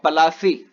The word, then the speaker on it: Palasi: Plassey is an anglicized pronunciation of Palasi, and the place derived its name from the Palas tree, known for